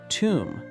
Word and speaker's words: tomb: Tomb.